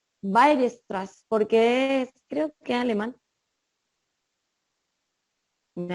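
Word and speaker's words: Weierstrass: dice que es y fx continua cómo se pronuncia bailes atrás porque creo que alemán me avisan si estoy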